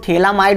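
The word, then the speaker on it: phthalimide: देखो थैलामाइड और थैलीमाइड है, थैलीमाइड THALI थैलीमाइड, ठीक है। पीएच को साइलेंट रखेंगे तो थैलीमाइड बनाता है।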